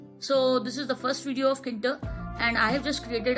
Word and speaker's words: Tkinter: Basically in Kinter, T is silent. It is not called tkinter, it is basically Kinter, and this is the